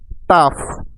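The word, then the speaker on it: tough: clear হয়ে যাবে যেমন টাফ টি ও ইউ জি এইচ টাফ কারণ টি তে ট আর ও ইউ জি এইচ আফ ট যোগ আফ টাফ টাফ মানে কঠিন নেক্সট ওয়ার্ড রাফ আর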